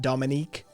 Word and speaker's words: Dominica: puerto rico's um uh dominica not the dominican republic but dominique depending on your pronunciation and where you're from and you know where